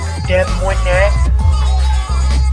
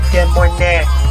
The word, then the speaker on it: Des Moines: Des Moines. It's Des Moines. DS is silent.